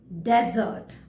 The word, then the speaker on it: desert: is dessert and dessert there is a slight difference in the pronunciation desert repeat with me desert death desert and dessert dessert okay so first let me